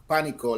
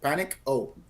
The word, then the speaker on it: Panico: yes oh yeah okay it's uh it's Panic Panico like Panic oh Panic it's Panico press um and it's uh